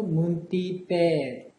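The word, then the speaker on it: មន្ទីរពេទ្យ: 여기에 보시면은 빼 할 때 문띠 빼 이렇게 발음하기 쉬운데요. 장음이죠. 그래서 문띠 빼 이렇게 해주시면 좋겠네요.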